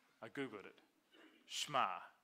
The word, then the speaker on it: Shema: I heard someone pronounce it Shema. I thought that doesn't sound right. I Googled it. Shema. The emphasis is on the ma. Shema.